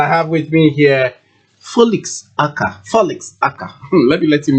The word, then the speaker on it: Folix: Folix. Yes, Folix. Though it's spelled so Folix.